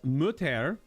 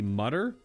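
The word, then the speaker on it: Mütter: surgeon named thomas dent mutter i guess that's how it's pronounced could just be mudder or no but it's a it's a u with two dots over it an unload i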